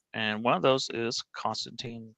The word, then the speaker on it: Constantine: You said Constantine rhymes with bean. My name's Constantine rhymes with wine.